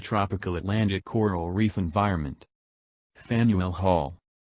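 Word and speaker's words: Faneuil Hall: Atlantic coral reef environment Fanueil Hall pronounced fan UL Hall this eminently historic landmark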